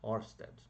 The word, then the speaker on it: Ørsted: Christian Ørsted, né, em dinamarquês aí certamente a pronúncia não é essa, tá certo? Mas enfim, abrasileiradamente, né, a gente fala normalmente em Ørsted.